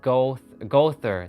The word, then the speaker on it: Goethe: It is pronounced Gother.